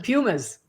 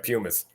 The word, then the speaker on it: Puma: She's going to wear some Pumas. That's right, Pumas. The British say Pumas, don't they? We say Puma, they say Puma.